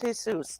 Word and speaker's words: Jesus: And it's pronounced Jesus.